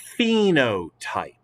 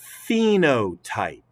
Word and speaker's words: phenotype: and say it together phenotype the ph in this word is pronounced as an f the ph is pronounced like an f so say it one more time as you're looking at it phenotype all right so what